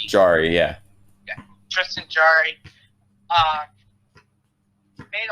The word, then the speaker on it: Jarry: Can you help me pronounce it? Tristan Jarry. Jarry, yeah.